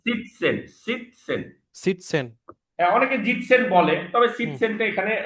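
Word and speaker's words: sitzen: আরেকটা যেটা ওয়ার্ড শিখছিলাম সেটা হচ্ছে সিটজেন। সরি। সিটজেন হবে না, এটা মেবি উচ্চারণটা অ্যাসের উচ্চারণ অ্যাস হবে না, যে জিটসেন, জিটসেন, জয়ের আরেকবার মতো বলেন উচ্চারণ।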